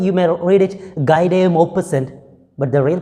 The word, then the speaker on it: Guy de Maupassant: short story, The Trip of HORLA, written by Guy de Maupassant. Right, he's a French writer, French short story writer, and when you read it by its spelling, you may read it Guy de Maupassant, but the real pronunciation is Guy de Maupassant.